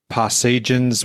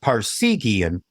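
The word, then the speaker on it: Parseghian: in December of 2023 now forgive my pronunciation I think it's paran's Wildcats devoted to northwestern's football coach aop passan and the on in 62 season yes it's a pronounced Parian aha most of the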